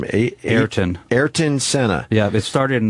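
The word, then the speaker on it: Ayrton: how do you say his first name eron eron Senna yeah it started in 1985 the movie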